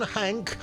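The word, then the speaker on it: Hanke: Led by John Hank, which rhymes with wank, Niantic Spatial will be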